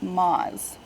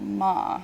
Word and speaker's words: Moz: way that Google was interpreting phonetically Moz so the invocation name was you know Moz SEO quiz and it was being picked up as ma like mom and it wasn't working